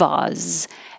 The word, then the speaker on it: Oz: Of Oz. And Oz is really spelled with a Z. I changed the is S to a Z to remind you that there's a lot of Z here.